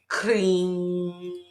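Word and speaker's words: Krim: And the sound that you'll be making, the seed or the mantra, is kring, kring. I would do that for 3 nights in a row, right? And how that's spelled, I'll see if I can put it on the screen, but it's KREM.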